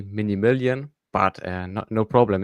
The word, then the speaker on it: Minimilan: You you can say my name is actually Mini Million, but uh no, no problem.